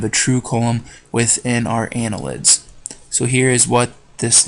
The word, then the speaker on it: annelid: and Anela did or annelids Arya nila did annelid is how you say that I'm sorry Ana lid